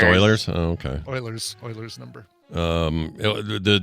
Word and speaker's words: Euler's: Oh, it's pronounced Oilers?